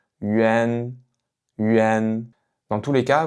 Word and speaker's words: yuan: La première, c'est yuan, yuan, yuan.